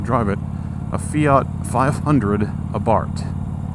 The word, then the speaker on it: Abarth: it, a Fiat 500 Abarth. It's actually Abarth, you don't say the H.